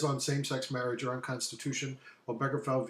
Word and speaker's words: Obergefell: And this is kind of gay marriage laws, number 61 on our study guide, until the case of Obergefell is how it's pronounced, v.